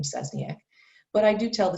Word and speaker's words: Szczesniak: you have to use my whole last name cesniak but i do tell the students just call